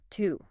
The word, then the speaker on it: to: Not like to. Exactly. Instead, it uses awah. You know, that super short relaxed uh sound.